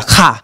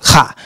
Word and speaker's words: Ka: It's supposed to be a Ka. It's supposed to come from the back of the throat. Ka.